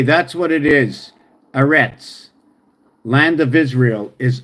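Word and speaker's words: ארץ: going land okay that's what it is is arets land of Israel is arets so anet okay is a stop okay a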